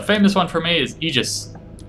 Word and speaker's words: Aegis: A famous one for me is Aegis. Right? Aegis. A-E-G-I-S. Shield, right? Aegis. It's pronounced Aegis. The A-E is like Caesar, right? Just Caesar.